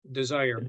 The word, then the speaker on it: DSIRE: It's without the E. It's DSIRE. Desire. It's Okay. Desire without an E.